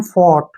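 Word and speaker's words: fought: एचटी आ गया तो इसमें से हमने जी एच को नहीं पढ़ना है एफ ओ यू का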